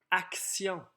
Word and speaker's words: action: Action. Ici, on a une nouvelle régularité orthographique qu'on n'a pas vue encore cette année. C'est le sion, qui s'écrit toujours T-I-O-N, sauf dans les mots qui contiennent mission ou pression.